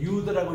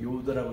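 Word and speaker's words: יוד: 요도 금방 여기 때 이제 유드라고 읽잖아요. 그렇게 또 읽는 유대인들이 있습니다. 옛날에는 요드라고 읽었는데 요즘은 또 일본은 유드라고 읽는 그런 것도 있는데 참고하시기 바랍니다.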